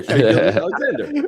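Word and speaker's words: Shai Gilgeous-Alexander: How do you pronounce SGA's name? Shea Gilgeous. What do you mean? Alexander. You forgot the Alexander? Yeah, Shea Gilgeous Alexander.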